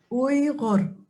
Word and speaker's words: Uyghur: Now, I must ask you how we've been saying Uyghur, but you seem to pronounce it a little bit differently. How do you say it? Uyghur. Okay, I'll just say Uyghur.